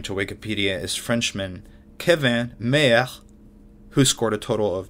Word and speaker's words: Mayer: Kevin Meyer, that's my mint French pronunciation of a man who you might call Kevin Mayer, spelled like John Mayer.